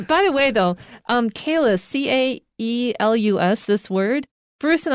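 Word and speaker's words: Caelus: an official agreement on whether you pronounce c a e as k or as c and so bruce will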